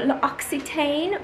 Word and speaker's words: L'Occitane: I always thought it was L'Occitane or L'Occitane, but it's L'Occitane. I googled it to make sure that I have the correct pronunciation.